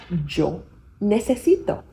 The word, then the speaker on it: yo necesito: So because o is o, you don't say yo necesito, you say yo necesito.